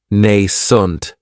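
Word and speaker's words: nascent: And this word has two syllables. And the stress is on that first syllable. It has the long a sound nent. That second syllable has that schwa.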